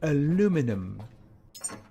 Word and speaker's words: aluminum: Aluminum. Or aluminium, depending on how you like to pronounce that.